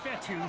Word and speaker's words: Fetu: up third down so coach fettuck spelled fetu for the longest time i was pronouncing it coach fedo like feta cheese so let's just say